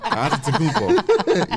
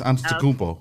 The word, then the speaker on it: Antetokounmpo: The G is silent like lasagna. Antetokounmpo. Yes, it's Okay, Giannis. so wait, pronounce it again, RC. Giannis, like with a Y. Giannis Antetokounmpo. Giannis, and what's the last name? Antetokounmpo.